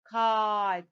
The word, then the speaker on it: kite: Kite, the long vowel I here.